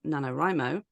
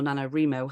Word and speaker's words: NaNoWriMo: obviously the months before nanor rimo or nanoro how do you say it am I saying it I say nanor rimo say nanoro yeah okay so nanor rimo because that's how Ione